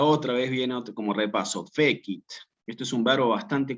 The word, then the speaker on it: fecit: hacer aquí es decir, acentuar en la penúltima sílaba, como si dijera fecit o como si dijera vitae. ¿Sí? Aquí efectivamente, ¿cómo se separan estas en sílabas? Fe-kit.